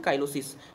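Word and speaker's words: cheilosis: Cleft lip को also known as चिलियोसिस, या इसको चिलियोसिस बोलते हैं या इसको क्या बोलते हैं हम, काइलोसिस। तो दोनों नाम से जाना जाता है, ठीक है, स्पेलिंग सेम टू सेम है।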